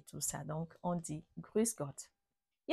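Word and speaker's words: Grüß Gott: salutation que je vais vous apprendre aussi c'est grusgot grusg grusg c'est tout simplement la formule traditionnelle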